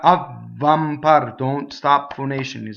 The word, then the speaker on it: avvampar: Avvampar. M's, when they touch a consonant, they double. Huh? Avvampar. Don't make a big deal about double V. Right? Double V does not stop phonation. Neither does double B.